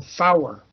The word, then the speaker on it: four: Notice three is pronounced tree, and four is pronounced four or fower, so that you get a distinct difference in how it's pronounced, and you can pick it out.